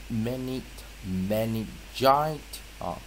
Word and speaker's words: meningitis: syllable，啊，母音在音节前做长母音，所以这是我们画一个从这个音节这个地方哈画过来朝上，啊，那这个就叫做 open syllable 哈，啊，自然发音啊 phonic 的规则，这个就叫 open syllable，开放音节，开放音节就是把 i 拉成长母音，那记得我们是念 meningitis。啊，gitis 啊，啊，meningitis，所以这个地方啊，它是发一个 gi 九啊，我们可以看到 gi 九在这个地方哈，啊，所以在